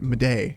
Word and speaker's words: Madej: Madej. It's just Madej.